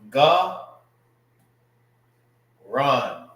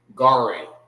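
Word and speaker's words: גרון: Now, it's not garan, all right, which is, that's how you will pronounce it in the English. You will say garin, garin. That's not how you say this word, all right. It's ga, run, garan, not garan.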